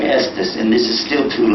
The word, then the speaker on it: Estes: They pronounced it. But then over the years, when they became Christians, they began pronouncing it as Estaz, and then it became Estes, and this is still too loud for broadcasting.